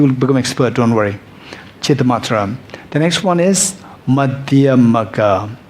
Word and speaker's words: Chittamatra: Chittamatra. Chittamatra. Even to pronounce it is quite technical, right? But you will become expert, don't worry. Chittamatra.